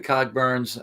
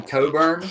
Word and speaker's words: Cogburn: But we kind of think that maybe he was saying it wrong, and it might have been Coburn.